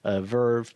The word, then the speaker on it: VRV: to Crunchyroll plus VRV, or Verve, I guess they pronounce it, which is $10 a month, or maybe it's 12.